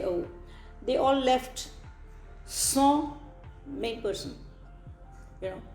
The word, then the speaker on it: sans: So sans. Sans, S-A-N-S is the spelling of it in English, and it's pronounced as son. And probably those who are not very much acquainted with the language would say sons, SAS sons.